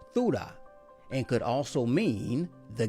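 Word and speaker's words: θύρα: as door here in the Greek concordance is pronounced thuda and could also mean the gate but whether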